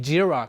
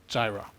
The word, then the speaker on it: Jira: Gilla all right that's also why it calls jira and not Gyra so great next question how many apps are